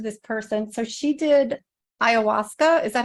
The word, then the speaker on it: ayahuasca: So she did ayahuasca.